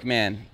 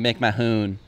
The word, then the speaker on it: McMahon: McMahon. I keep saying Mick Mahoon. Keep mixing it up, but I wanted to say it right for the podcast.